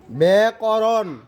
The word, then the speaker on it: ব্যাকরণ: নিয়ম ক জফলা যদি শব্দের শুরু বর্ণে আসে, একারের মতো উচ্চারণ করতে হয়। হ্যাঁ, যেমন ব্যাকরণ, হ্যাঁ।